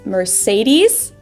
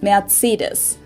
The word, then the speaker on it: Mercedes: it mercedes germany so most americans call this mercedes in german we pronounce it mercedes so mercedes versus mercedes yeah how y'all pronounce